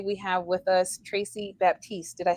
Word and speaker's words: Baptiste: have with us Tracy Baptiste did I say it correctly uh Batiste the p is silent oh very nice um